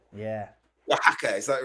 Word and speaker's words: Oaxaca: Alebrijes Oaxaca. Oh, Oaxaca. Yeah. Oaxaca, is that right? Yeah, Oaxaca. those X's are all over the place, all silent and stuff.